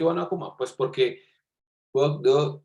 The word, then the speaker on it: Bourdieu: Esto es una cita de acá en Colombia, le dicen Bourdieu, pero realmente su pronunciación en francés es Bourdieu, Pierre Bourdieu o Pierre Bourdieu, que ya miraremos porque ambas formas son correctas.